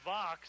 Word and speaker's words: Vox: Well, Robbie Vox, it rhymes with the box, and I tell you what, he puts it in the box and in the end zone.